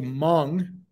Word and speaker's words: Hmong: in Lao called the Hmong actually starts with an H but the m is pronounced first and there are more